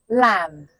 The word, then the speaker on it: lamb: Lamb. The B is silent but the lamb says island.